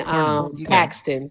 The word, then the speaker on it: Cornyn: and Crockett, along with I always get his name wrong, Cornyn and Cornyn.